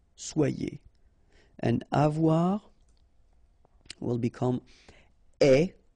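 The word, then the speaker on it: aie: and avoir will become est, remember the final E is not pronounced, so you only have this A-I sound, est, okay, est, ayons,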